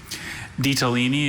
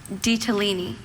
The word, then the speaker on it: ditalini: Ditalini is from Italian. Ditalini. Ditalini. And are there any alternate pronunciations? Just the one, ditalini.